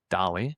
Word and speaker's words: DALL-E: It's spelled DAE, DALL-E.